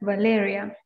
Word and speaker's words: Valeria: Is that the way you pronounce the name? Valeria. Yes.